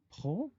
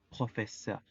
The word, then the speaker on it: professeur: La pronunciación es professeur. La unión de las vocales EU se pronuncia como E.